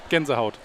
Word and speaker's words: Gänsehaut: Gänsehaut. Gänsehaut.